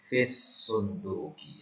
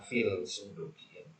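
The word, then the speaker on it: في الصندوق: sunduqi baidun fil sunduqi nah ini bacanya baidun fisunduki Ya baidun fisunduk jadi ini langsung masuk ke huruf shadnya ya langs masuk ya baidun F sunduk bukan fil sunduki nah baik ya itu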